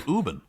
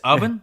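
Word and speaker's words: Ubben: I've known David forever is that how he's pronounces his last name yeah Urban I thought it was ubin no uh it's oven this is the this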